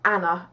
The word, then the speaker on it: Anna: okay here we go my name is Anna and that's how I pronounce my name um a Anna like that but but I'm from